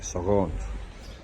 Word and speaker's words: Sahagún: What the outside of the albergue looks like is the Albergue de Peregrinos Cluny, and that's in the way they pronounce the city is like Sahagún.